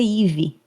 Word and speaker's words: Eve: O nome dela é Ive, mas se escreve E i E V E E um forma estranha de escrever esse nome, mas isso pouco importa.